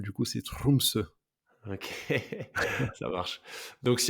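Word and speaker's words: Tromsø: Français j'arrive pas mais en norvégien les r il les roulent comme en espagnol du coup c'est trumse ok ça marche donc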